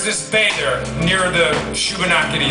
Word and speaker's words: Shubenacadie: So, there's this bay there, near the Shubenacadie, it's the name of the river, and this Bay of Fundy. And like no, it's Shubenacadie.